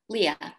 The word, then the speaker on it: Leah: Is it Leah or Leah? Leah.